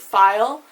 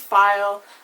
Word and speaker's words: Pfeil: my username it's Kate file um that is a German word for Arrow the PF L uh it means arrow in German it's pronounced file um in the English